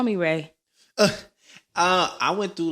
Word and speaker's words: Rey: So when you spell it, there's a R-E-Y in the middle of it. So I'm just like, okay, that makes Ray.